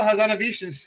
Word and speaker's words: Hazanavicius: the artist guy Michelle hit whatever how you pronounce it Michelle hazanavicius is correct your second question besides Doctor Strange